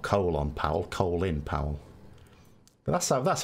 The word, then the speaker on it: Colin Powell: Powell, you know, I will happily call him Colin Powell because I know that's how he pronounces his name. But in this country, it'd be Colin, you know, because that's how we pronounce Colin.